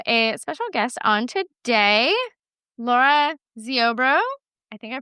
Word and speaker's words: Lara Ziobro: And I have a special guest on today, Laura Zorbro. I think I pronounced that right.